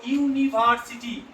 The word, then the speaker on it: university: ওয়ার্ডটির উচ্চারণ যদি ইউ এর মতো হয়, দেখো ইউনিভার্সিটি, তাহলে ইউ আসছে, তাহলে এখানে ইউ আসার দরুন এখানে আমরা কি বসাবো বলতো?